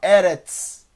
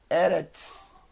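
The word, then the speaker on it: ארץ: valor numérico e 90 o som no final dts como eretz eretz eretz terra e quem então chegamos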